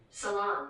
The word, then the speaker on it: Ceylon: Salon.